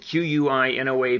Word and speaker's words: quinoa: So quinoa, spelled Q-U-I-N-O-A, pronounced quinoa, that South American grain, quinoa with tomato paste.